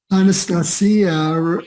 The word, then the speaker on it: Anastasia: or vladimir wright either but anastasia um rhymes with maria um and and that's how the russians pronounce it and of course